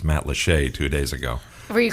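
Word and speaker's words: Matlacha: and places and I just learned how to pronounce Matt Lee two days ago were you calling it Matt lcha I may have been calling it something like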